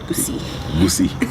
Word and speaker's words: Gusii: Is that how you say it? Gusii. It's double I.